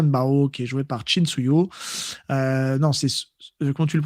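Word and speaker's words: Chin Siu-ho: Li, et Tian Bao, qui est joué par Chin Suyo. Non, c'est comment tu le prononces toi? Chin Suyo.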